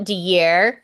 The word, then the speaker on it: DeYear: it's take that out it is spelled exactly the way that it sounds so Chief thank you